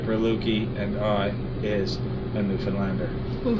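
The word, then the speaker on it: Newfoundland: now a scoff as a dance and a new Finland a blue star as a beer and it's pronounced New Finland not New Foundland or New Finland New Finland is the oldest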